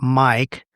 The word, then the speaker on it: M1KE: They say you can pronounce that mic as the name of the device, but I'm going to call it M1 K during this podcast so that it's clear that that's what I'm talking about.